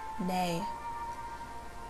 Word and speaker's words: nei: answering a negative question no is pronounced nay goodbye can be said